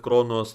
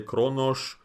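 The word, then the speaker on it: Qo'noS: Like they keep saying instead of Kronos they say Kronos, instead of Kish, they said Kish.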